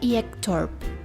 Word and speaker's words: Ektorp: Layla Layla Hello lovely crafters, today we're gonna make another DIY Barbie sofa IKEA Ektorp Yes that's how you pronounce it in Swedish, because I just google